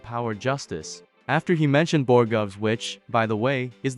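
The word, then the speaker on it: borogoves: After he mentioned Borgovs, which, by the way, is the correct pronunciation, I came across a few fun facts worth sharing.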